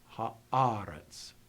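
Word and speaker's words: הארץ: And then at the end of the sentence, again, the accent is not in final position. It's earlier in the word. Haaretz.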